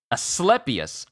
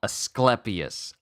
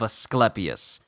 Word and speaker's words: Asclepius: is Aus a a aspius aspius oh my goodness ah this is going to words the rod of a a asclepius i I was saying it wrong asclepius asclepius Rod of asclepius we're I'm learning so